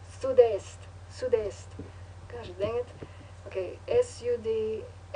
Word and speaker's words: sud-est: Did I say it wrong? It's not west. Oh no, it's east. Sud-est.